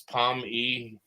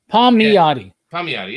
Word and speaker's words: Palmiotti: used to just say break it down it's palm ee yeah apparently i butchered it when we started the show everyone does you know palm miati it's okay amanda khan is